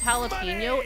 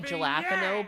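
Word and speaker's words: jalapeño: I also say I know it's jalapeno and I will say gelapo because I prefer to say it like that.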